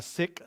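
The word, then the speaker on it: Sikh: people she's a middle eastern she's a a sick religion and doesn't mean that's a bad religion that's the way it's pronounced s-i-k-h but she heard these men in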